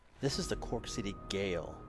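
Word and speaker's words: Gaol: is the Cork City Gale what we pronounce as jail or prison and it's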